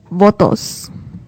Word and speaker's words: votos: So, votes is votos. It sounds like photos, but it's with the V.